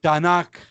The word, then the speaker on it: Tanakh: Como ellos no usan las vocales, pero ellos pronuncian Tanakh.